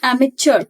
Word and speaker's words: amateur: The pronunciation is amateur, not chio. It's amateur.